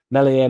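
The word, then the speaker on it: Meslier: year of the contract Melier Messier silent s probably wants a particular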